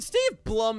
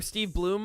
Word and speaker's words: Steve Blum: I mean, Steve Blum is just a great VA in general. Or Steve Bloom. I keep forgetting how it's pronounced. I think it's Steve Bloom.